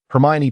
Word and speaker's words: Hermione: Seated together, Hermione patiently taught Crumb how to pronounce her name correctly. Hermione, she articulated slowly.